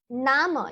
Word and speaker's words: Namen: Nama, you see the name spelling is the same, but the pronunciation is Nama.